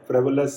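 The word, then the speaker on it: frivolous: Exact pronunciation जो है फ्राइवोलस है, फ्राइवोलस भी बोल देते हैं।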